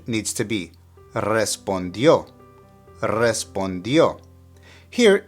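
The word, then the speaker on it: respondió: which means to respond note the accent on the last o and that's where the stressor pronunciation needs to be respondo here it's in the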